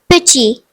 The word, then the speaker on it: petit: The French word is petit, which means small. The silent letter is T.